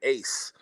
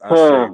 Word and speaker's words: Ashe: Because I've been in some interviews and they've been like, oh yeah, I like that record, Ace. And I'm like, wow. Yeah, I'm like, nah, that's Ashe, brother.